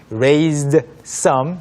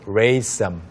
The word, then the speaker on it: raise some: 이 부분이 이제 raise 의미가 파악이 돼도 발음이 raised some 이렇게 하지 않고 raise some Raise some. 네, Raise some. 이렇게 발음이 됐죠.